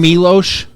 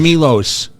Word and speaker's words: Milos: decision wait a minute is your name milosh or Milos Milos okay so I've been saying it wrong everybody is we start